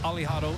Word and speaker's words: Alejado: alad well I mean the pronunciation of uh aliado is Ali right right so almost like Muhammad Ali so maybe Ali hay